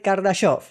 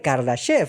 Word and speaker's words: Kardashev: Esta fue la famosa escala de Kardasov o de Kardashev, si lo pronunciamos en inglés.